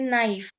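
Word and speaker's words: naïf: तो ट्रेमा है इसीलिए नाइफ, नाइफ, नाइफ मतलब इंग्लिश में भी नाइफ बोलते हैं, इसका मीनिंग रहता है इनोसेंट। ओके, सो ये ट्रेमा यूज किया जाता है दोनों वॉवेल्स का साउंड प्रोनाउंस हम करें इसीलिए।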